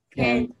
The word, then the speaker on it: can't: Can't. Can't. Can't. Cuando vayan a pronunciar esta palabra, pronuncien la T, can't, para que no se enreden.